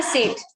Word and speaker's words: सेठ: आपका नाम मैं सही प्रोनाउंस कर रहा हूँ? हाँ जी। ओके, आपकी सरनेम बताएंगे? सेठ, ।